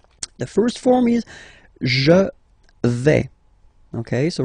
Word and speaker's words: vais: The first form is je vais. Okay, so remember, final S not pronounced here.